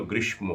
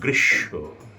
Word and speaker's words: গ্রীষ্ম: এটা হওয়া উচিত ছিল গ্রীষ্ম কিন্তু এটা সংস্কৃত এসেছে এই শব্দটা সেইজন্য সংস্কৃতের আদলে উচ্চারণ করি আমরা গ্রীশব এবং সেটিই শতসিদ্ধ হয়ে গেছে বা সেটাই নিয়ম হয়ে গেছে এটার উচ্চারণ হবে গ্রীশব গ্রীষ্ম না গৃশ্য গৃশব